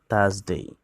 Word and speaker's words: Thursday: Wednesday, Wednesday, Wednesday, Wednesday, Thursday, Thursday, Thursday. এখানে আর এর উচ্চারণ নেই, সাইলেন্ট থাকবে।